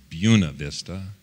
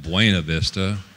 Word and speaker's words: Buena Vista: By the way, it's pronounced Buena Vista, not Buena Vista. Jeez. Buena Vista is how you're supposed to pronounce it. But the locals pronounce it Buena Vista.